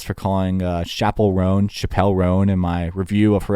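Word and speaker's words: Chappell Roan: this YouTube video and they were like It's pronounced Chappelle Ron and so it's was like okay I'll run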